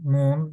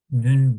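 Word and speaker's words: نون: sonraki derslerimizde harfi Türkçedeki nun N harfi ince harftir n ince harf nün demiyoruz Çünkü Damme kalını da incesi de hep u olarak okunur Eee ü Kur'an'da ü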